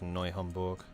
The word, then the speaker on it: Neu-Hamburg: Yes, this was Neu-Hamburg. Not new. Noi. Spell it right.